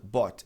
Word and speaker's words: bought: Esse treco esquisito aqui, BU, ght tem essa pronúncia. Bot é o passar de particip verbo comprar buy. Então eu tenho B O U G. O O U U U G HT só tem som de OT, entendeu?